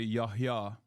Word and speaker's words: Yahya: I mean, I don't know how you say it in Arabic. But in Turkish, Yahya is a Turkish name as well. You say Yahya.